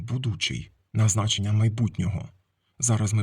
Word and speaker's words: будучий: У староукраїнській мові було слово будучий саме з таким наголосом будучий на значення майбутнього.